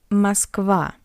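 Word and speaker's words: Москва: So the unstressed O in an unstressed position the letter O read as a weak a like in a word Russia. Mosva Moscow.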